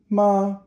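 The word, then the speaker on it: 妈: And it's ma, first tone.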